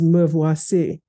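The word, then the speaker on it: me voici: God calls upon Abraham Abraham says move wasi which is like me here is how you say it in French um so first yes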